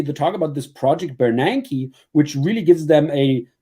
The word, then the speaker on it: Bernanke: Yeah, Bernanke.